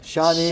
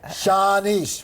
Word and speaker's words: Shanice: Sha Sha I want to do this right shaunise and her husband Flex thank thank Shanice would you say it right we went over